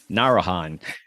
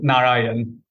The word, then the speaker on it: Narayan: to the podcast and I know I mispronounced your last name so can you correct me for the record yes sure it's Narayan okay thank you man